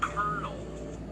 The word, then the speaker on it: colonel: And OLO is obviously pronounced kernel.